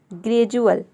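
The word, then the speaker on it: gradual: बाद UATE आया है, ग्रेजुअल। नेक्स्ट है इंडिविजुअल। तो इनमें से कोई भी लेटर अगर डी के बाद आ जाता है तो वहाँ पे डी को हम क्या प्रोनाउंस करते हैं, ज प्रोनाउंस करते हैं।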